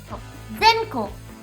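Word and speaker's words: 善狐: So, instead of using kitsune, you're going to change the pronunciation to ko. Ko. Zenko.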